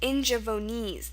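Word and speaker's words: Ingaevones: Yes, it's pronounced Ingevonese.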